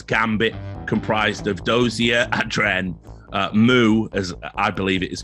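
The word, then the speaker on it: mou: taking on Zeus's Gambit, comprised of Dozier, Adren, Moo, as I believe it is correctly pronounced, Zeus. And that was Moore, wasn't it? Isn't it Moore? They say Moore.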